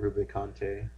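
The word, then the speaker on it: Rubicante: Melon, Rubikante, which I looked online and it said you pronounce it Rubikante. I like Rubikant. Yeah, Rubikant. Rubikan or Rubikant? I'm a Rubikan.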